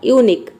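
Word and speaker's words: unique: क्यू यू का हो जाएगा क, ई साइलेंट है क्योंकि वर्ड के लास्ट में आया है। तो ये हो जाएगा यूनिक।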